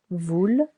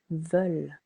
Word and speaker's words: veulent: Be careful. Not voulent, but veulent.